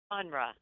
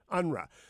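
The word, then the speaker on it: UNRWA: the near East or how do you guys pronounce the acronym at the UN unruhe unruhe would you tell people what the controversy about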